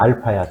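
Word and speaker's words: α: 이건 뭐라고 읽냐면 알파라고 해요. A가 아니야. 알파야. 됐어?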